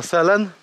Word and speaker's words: Sälen: To się nazywa Selen. Pisze się przez S i A z dwoma kropkami.